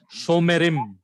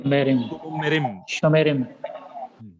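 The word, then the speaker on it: שׁוֹמְרִים: That is after Holam Vav, Shiva is always vocal. That is Shomerim. Pronounce after me. Shomerim.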